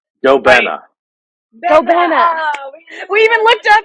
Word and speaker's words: Gobena: so we have Luke from gobina right it's pronounced gobina go benna we even looked up like that okay so